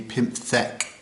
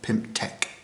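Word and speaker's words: pymthek: Somehow I wrote this down wrong when I was doing it, but it should be pimpthe not pimp.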